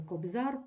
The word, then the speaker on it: Кобзар: наголос може змінюватися приклади Кобзар пухир Аптекар богатир наприклад Кобзар наголошено суфікс або поставимо форму множини кобзарі і наголос уже змінився він перемістився із суфікса на закінчення і слово Кобзар належить